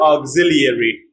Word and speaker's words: auxiliary: For example, in the word auxiliary, the I after L is pronounced y. Auxiliary, y, yuri.